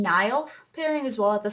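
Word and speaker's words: Niall: well as Zan and Nile is how you say his name Nile pairing as well at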